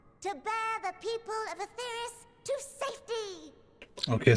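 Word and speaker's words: Etheirys: As of now, our mighty moon has a new purpose: to bear the people of Aetheris To safety! Okay, so it's pronounced Aetheris.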